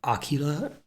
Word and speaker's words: Akira: landmark anime in 1988 akira pronounced something like aquila in japanese but apparently akira is considered an acceptable pronunciation thank god is set